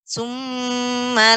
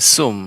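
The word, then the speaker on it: ثُمَّ: Summa la yamutu fiha wa la yahya. Ya. Ketika mengucapkan summa terdengar seperti sum ya, menggunakan tha, ujung lidah dengan gigi seri. Tha, sum, tha, summa. Ya, silakan ulang kembali.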